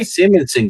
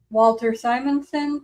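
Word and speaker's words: Simonson: Oh, that Simmonson guy. Walter Simson.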